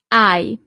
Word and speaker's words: hai: Tu, hai. So you don't really pronounce the H at the beginning.